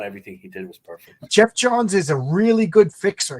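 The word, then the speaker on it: Geoff Johns: Yeah, those are relatively new powers added by Jeff Jones, I believe. Jeff Johns. I always say the name wrong.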